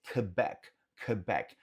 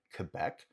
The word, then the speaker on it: Quebec: E esse Quebec, note que você pode pronunciar direto como um QQ, Quebec, como também você vai ouvir a pronúncia do U, Quebec. Ambos são válidos.